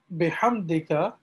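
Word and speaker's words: بحمدك: and right so okay so this h here in bihamdika is also to be pronounced with your throat if possible and and what do i mean what do i mean by pronouncing it with your throat is that when you say ha as you could hear me say ha ha ha uh i'm using my throat muscles to restrict air flow a little bit which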